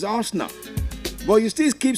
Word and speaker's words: Arsenal: you didn't know before that is wrong to say he arsena and you've been told several time he's not arsena is Arsenal but you still keep